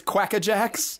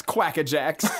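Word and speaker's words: Quakka Jaxx: franchise so far uh it's quack-a-jacks pronounced or spelled q-u-a-k-k-a space j-a-x-x quack-a-jacks and he's got like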